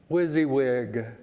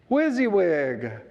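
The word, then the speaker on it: WYSIWYG: back as the 1940s its acronym w-y-s-i-w-y-g is pronounced wizzy wig whizzy wig i brought that in thinking of my good friend don belter who likes a good acronym wizzy wig now that's memorable you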